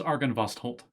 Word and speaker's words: Argynvostholt: see that man suffer how do you pronounce the dragon's name again let me look it up it's argon vost argenvost yes yep then what's argan this is argan vast holt oh oh right holt gotcha